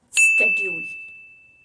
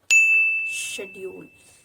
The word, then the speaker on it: schedule: So, the first pronunciation is schedule. Schedule. It's an American pronunciation and the Britishers pronounced it as schedule.